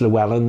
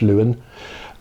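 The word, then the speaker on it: Llewyn: lumen davis a lot of people say it's llewellyn it's actually pronounced lewin and um it's oscar isaacs with a guitar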